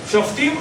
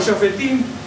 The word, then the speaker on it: Shoftim: Entonces yo tengo Shoftim o Shofetim, y lo que pasa es que a veces, según lo pronuncia en hebreo, una persona judía, hebrea o eskenazi o sefaradí, y de distintas latitudes, cuidado.